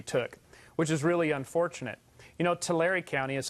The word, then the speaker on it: Tulare: Tulare County is how it's pronounced, actually, but in Tulare County, that's fine.